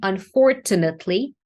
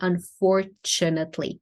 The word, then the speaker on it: unfortunately: But in this word, the T is actually ch in English. And this is an exception. So there are words like that. But now you corrected your own mistake from before and you pronounce the T, but actually here it is a ch.